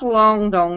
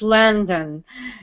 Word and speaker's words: London: yeah and she said no it's not long dong it's landon yeah and then i